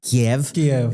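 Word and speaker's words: Kyiv: it I I I can't do these Ukrainian pronunciations I'm like chov not Cher not uh K it's KV and it ISO Rogue for me now K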